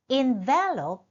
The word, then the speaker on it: envelop: Envelop is a verb where stress is in V as in verbing the envelope an extra paper.